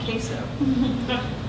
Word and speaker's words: queso: across the country people weren't familiar with the word queso and so they they'd say quo or quo and um it was always kind of interesting thing to to hear the different pronunciations but this is called